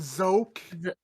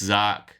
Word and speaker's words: Zoc: the drone and says, "You want to pronounce my name, rat? It's Zoc."